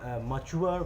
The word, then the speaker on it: mature: ये grown up हुए, मच्योर भी कहते हैं, MATURE, मच्योर भी कहते हैं उसका सही प्रोनाउंसिएशन, है ना।